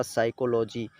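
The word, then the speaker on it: psychology: आंवलों पड़ने लगते हैं तो इसे पीस पीस साइलेंट करके न्यूमोनिया पड़ जाएगा इसी तरह साइकोलोजी यहां पर यह से पहले पीना है तो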